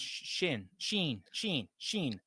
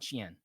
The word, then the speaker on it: Shein: And it's Sheen, not Shein.